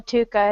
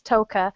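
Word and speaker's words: Touka: He has a go at me for pronouncing it wrong, but I call her Tuka and it's Toka from Tokyo Ghoul, which is to go with his Kaneki.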